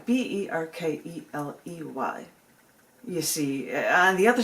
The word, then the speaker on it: Berkeley: That that's B E R K L E Y like you're barking up the wrong tree, Berkeley.